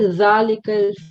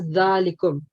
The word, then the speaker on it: ذلكم: Okay, so here you said dhalikal first, and then you were corrected. So yeah, so that's dhalikum.